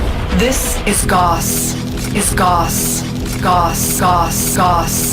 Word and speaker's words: Gauss: This is Gauss, and thank you, Quite Shy, for informing me that it's pronounced Gauss instead of Gauss, because I was honestly